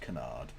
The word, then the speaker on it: canard: wanted to know how to pronounce Canard it's pronounced Canard and that's fine if English isn't your first